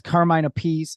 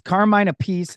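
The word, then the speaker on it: Carmine Appice: right because Carmine is Carmine a pece and Vinnie is Vinnie Apache they like separate the pronunciation of their same name even though they're related correct I believe they're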